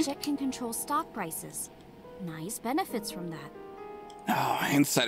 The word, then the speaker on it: Naix: society called the not nice at loss or nice uh with the where the x is pronounced like a z knows the secret of